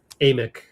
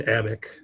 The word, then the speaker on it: Amick: Sam Amick. I know his cousin, and his cousin always pronounced his name as Amick. But Amick, whereas Sam likes to be called Amick.